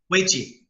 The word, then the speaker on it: Uechi: And how do you pronounce it? Weichi. Yeah. See, I call it Uechi.